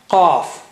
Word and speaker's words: qaf: Let's take the third letter, which is qaf. Qaf, qaf, qaf. Can you hear me clearly? Qaf, qaf.